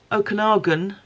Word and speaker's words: Okanagan: this is I was reassured at the time pronounced Okanagan fiber so from Okanagan die Works which is